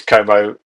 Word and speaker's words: Como: Is that how we pronounce it? It is Como.